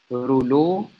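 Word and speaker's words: rouleaux: كولن، دي ظاهره بسميها رولو ابييرنس. رولو ابييرنس، رولو دي كلمه فرنش عشان كده الحروف الاخرانيه دي مش كلها بتتنطق.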